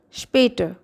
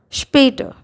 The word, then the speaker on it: Später: Später. Okay, S is followed by P here. So it sounds sure. Später.